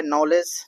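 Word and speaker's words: knowledge: देखिए नेक्स्ट आपका है नॉलेज नॉलेज में लिखने आता है आपको नो लिख लीजिए इसके बाद एल ई डी जी ई नॉलेज होता है डी साइलेंट है यहां ऐसे ही होता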